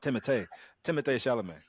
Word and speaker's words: Timothée Chalamet: And then Paul Mahdeev himself, Book of Arrakis, Timothée Chalamet. Well, actually, it's pronounced Timothée Chalamet.